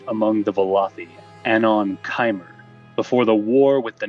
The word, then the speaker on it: Chimer: the time period of the kimer or chimer or chimmer or Kimmer or however you pronounce it if you don't say kimer I'm your enemy though yeah I'm pretty sure it's kimer but you know there's